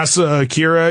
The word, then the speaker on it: Asa Akira: You know Asa Akira, I think you say her name? Yeah, Asa Akira.